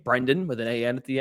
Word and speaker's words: Brendan: And sometimes I think people get caught saying, even though there's an E there.